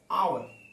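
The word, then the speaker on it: hour: ठीक है, आवर, एन आर। ठीक है, तो एन आर इसको दोस्तों आ, आ से शुरू होता है इसका चरण, एच साइलेंट होता है, इसीलिए यहाँ पर एन लग गया।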